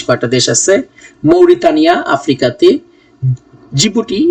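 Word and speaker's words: Djibouti: দেশ আছে মৌরিতা আফ্রিকাতে জিবুটি এটা ডিজিবুটি বানানটা লিখলেও উচ্চারণটা হচ্ছে গিয়ে আপনার জিবুটি বলিভিয়া সাউথ আমেরিকার দেশ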